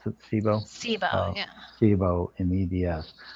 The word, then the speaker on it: SIBO: This is a little longer one, and it's back to the addressing the SIBO, and is that how you pronounce it? SIBO?